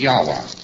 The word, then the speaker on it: Yahweh: able to pronounce it, so they omitted all of the vowels in the word. And they spell it only with its consonants. So Lord knows how this word is to be pronounced. But more agreed upon pronunciation amongst scholars so they can talk about it is Yahweh.